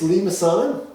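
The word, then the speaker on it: limaçon: called the lean assad that's the way it's pronounced it's lemasana and a limasson is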